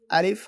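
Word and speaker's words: ألف: আলিফ হরফটি খুব দ্রুত উচ্চারণ হবে। এবং এই হরফে কোন টান হবে না।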